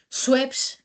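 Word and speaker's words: Schweppes: Es un nombre superdfícil de pronunciar. De hecho, cuando los 80s llegó al mercado español, tuvieron que hacer una campaña que se llamaba swep que donde enseñaban, ¿no? Educaban al público español a saber pronunciar sueps.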